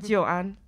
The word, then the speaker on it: Joan: Joan.